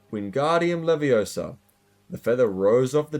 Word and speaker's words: Wingardium Leviosa: You're saying it wrong, Harry heard Hermione snap. It's Wingardium Leviosa. Make the guard nice and long.